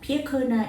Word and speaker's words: Piyakona: Pia Kona is uh three syllables after my three very precious children and I hope they continue my legacy.